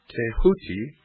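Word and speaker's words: Djehuty: scribe of the gods Thoth pronounced a hooky the so-called Emerald Tablet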